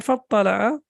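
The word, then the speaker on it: فاطّلع: So whenever we have fa or wa before that, then this Hamza is not pronounced. So it became فَاطَّلَعَ فَرَآهُ فِي سَوَاءِ الْجَحِيمِ.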